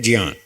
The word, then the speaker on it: ज्ञान: संस्कृत वालों ने हमको ऐसे ही सिखाया कि इसका शुद्ध उच्चारण है ज्ञान।